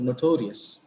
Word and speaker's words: notorious: Look at the word notorious. How many syllables are there in the word notorious? No, torious. So the penultimate syllable is to.